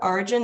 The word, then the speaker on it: Orygen: And we'll include that link, or you can look up Origin, that's spelled ORYGEN.